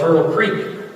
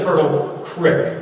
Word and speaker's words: Turtle Creek: Some people mispronounce it and call it Turtle Creek. That's wrong. A creek is a stream. Where I live is Turtle Creek.